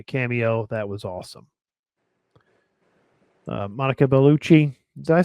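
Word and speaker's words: Monica Bellucci: it make a cameo that was awesome uh Monica beluchi did I say her name right yep no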